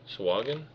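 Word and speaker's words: Sahuagin: Keith how do you pronounce that is that sahin or sahagan swagen is how I pronounce it yeah okay okay so um so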